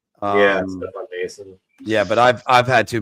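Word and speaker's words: Noesen: I can tell you what, Anthony always gets Stefan Nason's name wrong because he always calls him Nosen. Stefan Nason.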